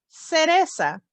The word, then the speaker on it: cereza: If the letter C is followed with an E or an I, it sounds like S. The word to remember is cereza.